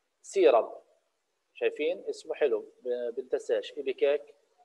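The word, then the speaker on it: ipecac: وفي دواء ثاني ايبيكاك سيرب، شايفين اسمه حلو بنتساش، ايبيكاك سيرب مش ايبيساس، ايبيكاك تلفظ سيرب، اللي هو كلاسيفيكيشن برضه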